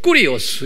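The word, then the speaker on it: κύριος: 이때도 이제 제호바라고 구약에 말하기도 하고 또는 신약은 the Lord, 꾸리오스 이렇게 발음해요.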